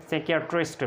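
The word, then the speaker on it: psychiatrist: अब देखें इसको हमने नेमोनिया पढ़ा और इसको कोप नहीं पढ़ना, को पी साइलेंट है। और इसको हमने साइकियाट्रिस्ट पढ़ा है, इसको हमने स्कालोजी पढ़ा है, इसी तरह इसको हमने साइकोथेरेपी पढ़ा है और इसको हमने रास्पबेरी पढ़ा है।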